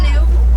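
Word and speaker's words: gnu: They make a newing sound which gives them their nickname, the new and that is spelled G N U.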